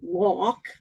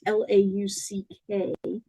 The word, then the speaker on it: Lauck: And the author's name is John Locke. I may not be pronouncing that correctly. It's Lauck.